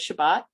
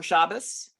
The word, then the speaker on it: Shabbat: Jewish holy day of Shabbat um or shabas um depending on how you pronounce it and and it's usually